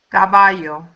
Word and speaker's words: caballo: The second rule says words ending in a consonant that is not N or S have the stress on the last syllable.